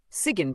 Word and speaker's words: Sigyn: Sigyn, pronounced Sigyn, is not dramatic or loud.